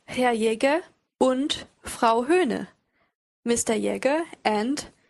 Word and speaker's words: und: Now the next word is und. What word does that sound like? I'd say it sounds like and.